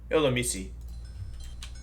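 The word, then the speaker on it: Illumise: Pronunciation redeem. Somebody redeemed Illumisi. Wait, no. Illumisi. Illumisi.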